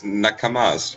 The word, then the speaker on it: nakama: He's like, doing it to protect his nakamas or something.